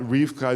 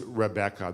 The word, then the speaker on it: Rebecca: so it seems that Rifka is actually not the original pronunciation it seems that the original pronunciation of the word was Rebecca that it was three syllables not two syllables it seems that the